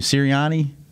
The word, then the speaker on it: Sirianni: Did you guys see the shirt that, how do you pronounce the coach's name? Sirianni? Yes. That's right.